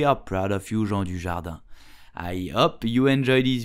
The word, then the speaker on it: Dujardin: So how do you pronounce his name correctly in French? You will say Jean Dujardin.